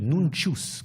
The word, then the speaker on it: nuncius: C'est écrit à la manière italienne, nuncius, comme il le prononce. Ça peut être le T ou le C, bien sûr.